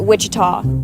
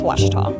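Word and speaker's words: Ouachita: by your side uh I've heard people say Oita O A Oita is it pronounced Oita searching for was Baptist University back in Texas everybody pronounces it Witchita but really it's was was was how would you pronounce it was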